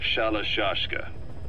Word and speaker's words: Shalashka: By the time I got to hearing about it, pronunciation had wound up as Shalashka.